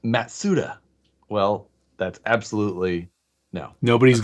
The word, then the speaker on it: Mazda: it's Alex says it's actually supposed to be pronounced matsuda well that's absolutely no